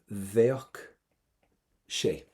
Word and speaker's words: Bheadh sé: Veach she. Veach she. Give me a V at the start. and a strong CK at the end.